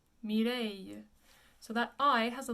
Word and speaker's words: Mireille: It's actually pronounced Mireille. Mireille.